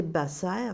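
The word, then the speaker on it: בשר: Et le mot « bassar », prononcé « basser », ce mot hébreu signifie le verbe informer.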